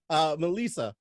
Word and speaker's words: Me'Lisa: MeLisa, right?